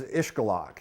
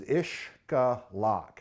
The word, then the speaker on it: Xcalak: It's when it precedes a consonant, as in this case, it's pronounced ish.